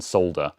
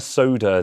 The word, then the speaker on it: solder: a lot of you a lot of you monsters also don't pronounce the l in solder and say i'm going to soda this on and i'm